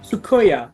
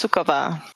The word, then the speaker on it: Sukova: our guest for today say hello to suya I hope I didn't mispronounce it or anything hi so it's pronounced sukova yes thank you Karina so um tell me